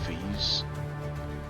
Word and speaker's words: Feyi: The trick to pronouncing the name is remember to stress the Y. Once you pronounce the Y, you'll be close enough not to get me upset.